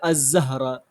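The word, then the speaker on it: الزهرة: তারপরে জাহারাতুনের সাথে যদি যুক্ত করি আলিফ লাম, তাহলে আজ-জাহরা। তাহলে এখানে লামের উচ্চারণ আসছে না।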